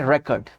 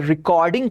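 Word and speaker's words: record: अगर ये वाइनल का जिक्र हो रहा है तो इसको पढ़ेंगे रिकॉर्ड। रिकॉर्ड। रेक पे थोड़ा स्ट्रेस ज्यादा होगा। रिकॉर्ड। ठीक है? और अगर रिकॉर्डिंग करने की बात करेंगे तो उसको कहेंगे रिकॉर्ड। वहां कॉ फोकस होगा। री होगा। रिकॉर्ड।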